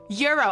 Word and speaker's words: gyro: And I was like, "Oh, this now you tell me euro." And I've been saying it for like years that I thought it was gyro.